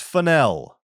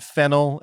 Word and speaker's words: Fennell: And yes, it is pronounced Finel. Not Fennel as in the herb, but Finel as in the cake.